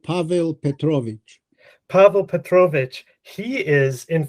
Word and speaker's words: Pavel Petrovich: Just in your correct pronunciation. The uncle is called Pavel Petrovich.